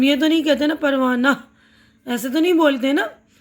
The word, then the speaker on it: پروانہ: ہائے مختفی، ذیل کے لفظوں کو پڑھتے ہوئے ان کے تلفظ پر دھیان دیجیے. پروانہ، پردہ، مدرسہ، درجہ، ہفتہ، تو سب میں آ کی آواز آ رہی ہے نا.